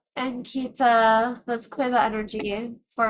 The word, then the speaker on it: Ankita: I can't pronounce it, so I say Antika. Did she say I pronounced it wrong? It's Ankit. I know, so how do you pronounce it? Ankita. Ankita.